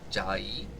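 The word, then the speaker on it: Chiayi: h a y i pronounced with a j because english to chinese is weird yeah you would have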